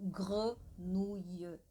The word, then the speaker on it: grenouille: Então, esse E francês, nosso E, para eles é E. Então, grenouille. Então, ele fica mais fechadinho. Gr, gr, gr.